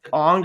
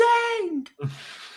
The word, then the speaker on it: Aang: bothered the hell out of me that they did not pronounce the characters' names correctly, but See, yeah. like Well, Ong, I'm like, whose name is Aang?